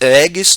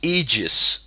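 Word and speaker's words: Aegis: Harlock EG ages yeah I said agis the previous time and a friend of mine told me on Skype he said dude it's egis please say it correctly so I said it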